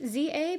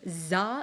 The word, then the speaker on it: Z-A: Z-A, Legends Z2A, Legends ZA. Like, no one knew how to say this name. And I think we as a community have eventually agreed to call it like ZA.